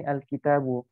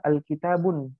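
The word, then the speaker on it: الْكِتَابُ: Al-kitabu itu enggak bisa kita bilang al-kitabun, enggak boleh. Itu salah dalam pengucapan. Karena di sini ada alif lam. Jadi alif lam di sini menyebabkan cuma dia hanya bisa al-kitabu. Kalau bilang al-kitabun salah. Jadi yang benar al-kitabu.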